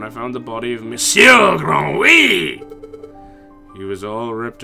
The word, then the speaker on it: monsieur: It is still monsieur, isn't it? Not monsieur. Because I've heard some of you pronounce the N, but I'm pretty sure the N's silent.